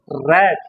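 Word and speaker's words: read: जैसे spelling रीड ही होती है और प्रोनाउंसिएशन हम करेंगे रीड, रेड, रेड।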